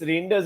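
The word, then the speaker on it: Reijnders: It's Reinders only.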